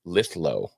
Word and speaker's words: Lithgow: Wizard man for two says, "Guys, Lithgow is pronounced Lithlo."